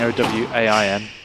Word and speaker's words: Owain: It's spelled O-W-E-N, not like our lads Welsh spelling O-W-A-I-N.